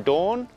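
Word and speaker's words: Doorn: So this is the Kaapse Bossen loop from Dawn. Dawn as in Game of Thrones Dawn. I know it's Dawn because that's the way the taxi driver pronounced it, even though I'm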